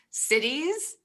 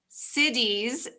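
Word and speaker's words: siddhis: you first said you wanted to talk about cities i thought you were talking about towns cities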